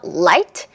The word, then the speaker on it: light: 자, 첫 번째는 우리 방금 했던 light, right. 둘 차이의 발음기호를 보면은 일단 나머지는 다 똑같아요. 그런데 뭐만 달라요? 앞에 있는 L, 앞에 있는 R. 이 자음만 다릅니다.